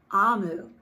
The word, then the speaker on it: Omu: inside how i knew to say the name o m u which is the word on the front page omu she says is pronounced amu and it is the igbo term for queen